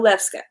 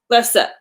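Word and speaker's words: lefse: So there's food in this book that I didn't really know how to pronounce. Actually, one of them I did know. I know Lefska. Lefsa.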